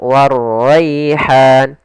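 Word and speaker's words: وَالرَّيْحَانُ: Kemudian ra-nya tebal, warraihan. Kemudian pada lafal rai, di sini ada bacaan lin, bacaan yang lembut dalam pelafalannya, maka warraihan.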